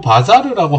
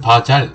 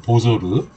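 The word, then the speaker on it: bazar: 그리고 바자르라고 하고 아까 설명에서는 바잘 이렇게 있는데 보통은 르 발음을 살려줘서 바자르 또는 우즈벡 발음은 보조르 이렇게 하고요.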